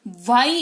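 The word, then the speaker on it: why: word का यूज करेंगे डब्लू एच वाई वाई इसको पढ़ते हैं ठीक है जैसे वह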